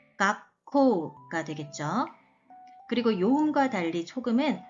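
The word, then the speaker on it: がっこう: 그럼 발음은 각코가 되겠죠.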